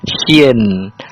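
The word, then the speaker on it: شين: Cara bacanya S Y I N sin.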